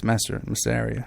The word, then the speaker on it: Massaria: segment of the show, the John Massaria, which is how you pronounce his name. It's Massaria. He calls it Massaria.